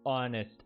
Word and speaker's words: honest: Honest, H is silent.